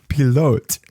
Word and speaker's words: pilote: I said, it's a French word. And it's pronounced pilote.